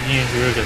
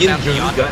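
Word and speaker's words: Yian Garuga: Isn't that pronounced Yin Garuga and Gazoo? Yeah. So we change your last name to Garuga. Okay, so I haven't pronounced that right.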